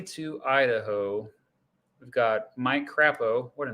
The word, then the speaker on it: Crapo: idaho we've got mike krappo what a name is that how you pronounce it or is it crapo it is mike croppo craw it's croppo mike croppo crappow if i just